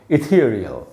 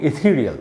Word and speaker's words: ethereal: उसके बाद है आधा अ, तो हम इसको बोलेंगे इथियर, और उसके बाद री के बाद भी आधा अ है और फिर ल है, इथीरियल। इस प्रकार से इसको पढ़ना है। अच्छा दोस्तों, ये ब्रिटिश प्रोनाउंसिएशन है। अमेरिकन प्रोनाउंसिएशन में ये आधा अ, थी के बाद जो आधा है इसको नहीं बोलेंगे आप। तो अमेरिकन में इसको बोलेंगे इथीरियल, सिंपल एकदम, बिल्कुल सपाट लहजे में बोलना इथीरियल।